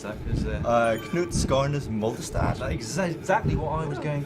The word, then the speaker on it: Knut Skarnes Moldestad: Oh, you better pronounce that. Knut Skarnes Moldestad.